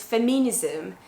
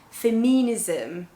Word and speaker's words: feminism: The first one is feminism, feminism. And you can see the pronunciation is not ism, feminism, but feminism.